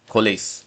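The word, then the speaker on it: COALESCE: So it is spelled as co o a l e s c e. Collase.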